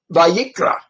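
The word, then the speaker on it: ויקרא: of the books this happens to say uh vayikra vayikra it's where Leviticus comes from I don't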